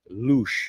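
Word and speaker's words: Luz: It's barely three kilometers over the hill from Priad Luch. And again, it's lu, but pronounced luch.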